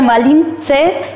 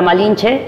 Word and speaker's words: Malinche: pero como los indígenas los españoles no podían pronunciar malinche Entonces le dijeron le dijeron malinche y ahí está la malinche entonces Marina o o